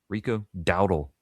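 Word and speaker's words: Rico Dowdle: Rico Dowel best way to say his name who had back-to-back rushing 1000 rushing yard seasons with Carolina and Dallas reuniting with Mike McCarthy.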